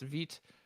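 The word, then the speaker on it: Vite: improvement to shift to vit and yes veet pronounced feet it's from french it i believe means fast and right it is yes veat rhymes with sweet as my way of remembering it nick nisi says v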